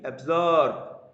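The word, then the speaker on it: absorb: অ্যাবজর্ব, শেষে কিন্তু বয়ের মধ্যে উচ্চারণ হচ্ছে অ্যাবজর্ব।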